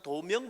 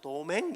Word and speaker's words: 도명: 제 이름이 이제 도명인데 부산 사람들은 도명 발음이 안 돼가지고 도맹 이래.